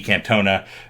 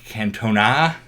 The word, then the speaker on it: Cantona: this have to say the name is pronounced a certain way I think we said he can't Tona at it's more of Eric Cantona Cantona and that's this fellow